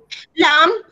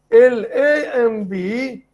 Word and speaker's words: lamb: pronounce this last word L A M B This letter, the last letter is silent.